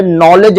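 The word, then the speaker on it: knowledge: अक्सर आप देखेंगे एन के पहले अगर के लिखा जाता है तो वहां पर के को साइलेंट कर दिया जाता है। जैसे नॉलेज लिखा जाता है तो के एन ओ डब्ल्यू एल ई डी जी ई कहा जाता है नॉलेज में।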